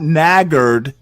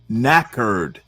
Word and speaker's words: knackered: Is does it have anything to do with No, no, no, no. Not naggarded. Knackard.